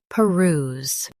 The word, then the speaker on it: peruse: peruse Both US and UK have the same pronunciation of this word. peruse Now, read the syllables shown on the screen naturally. p ruse peruse Emphasize ruse. Keep it flowing.